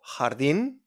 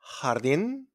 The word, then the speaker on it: jardín: It's pronounced like a h, okay, from your throat. Sounds come from Arabic, okay? So we got jugar, jugar, to play, jugar. We got jardín, jardín, garden, or Japón, Japón.